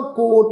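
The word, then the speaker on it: ਕੋਟੁ: जिहड़ा कोट शब्द आ कक्के उपर हूड़ा टैंके दे पैर विच औंकड़ लगी हुई है जी, ये जिहड़ा कोट शब्द आ औंकड़ दे नाल आया वा टैंके दे पैर च औंकड़, इहदा पाठ असी उच्चारण करना वा कोट, पर पर सत्संग जिहड़ा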